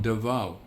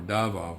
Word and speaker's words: Davao: So south not not too far from Davao or Davo, however you want to pronounce it.